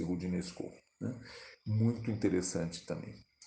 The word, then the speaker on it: Roudinesco: com TH no fim, Roudinesco, escreve-se R-O-U, D-I-D-N-E-S-C-O, Roudinesco, pronuncia-se Roudinesco.